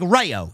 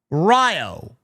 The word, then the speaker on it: Rayo: So it's spelled Rayo, but it's pronounced Ryo, Ryo. The A is silent. Rayonnaise. I'll just call him Pete Dunne, because that's who's under the mask. Riho.